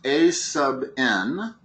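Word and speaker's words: aₙ: The general formula when you have an arithmetic sequence for the nth term, and that is pronounced a sub n.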